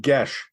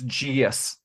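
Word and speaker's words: geas: is it Gaye it's however people G it's pronounced GES yeah g disgust me Adam it's GS it is pronounced GES it is I believe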